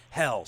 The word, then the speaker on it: Helles: for a six-pack of Helles, which we pronounced Hells.